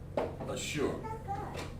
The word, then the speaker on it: Assur: And it's all Ashur or Assur. So let's write it down. Let's break Assur down here. Find out where Syria is on the map. Oops. Yeah. Assur. Okay? That's how you say it back in the Bible days.